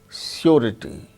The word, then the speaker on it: surety: But r sound is pronounced when it is followed by a vowel sound, as in the case of surety, surety, surety, RITY, rity. So, r sound is followed by a vowel sound E. So, r is pronounced surety.